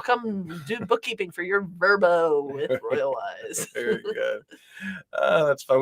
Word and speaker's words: VRBO: come check that out I actually pronounce that verbo do they probably they call it they call it verbo I always try to say VRBO too but they're called